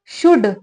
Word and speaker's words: should: वी यानी कि हमें, शुड SHOULD, इसमें एल जो होता है साइलेंट होता है, ठीक है।